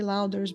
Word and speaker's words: Lowder: a chance to win a copy of Jay louder's book is it louder did I say it right or Lou you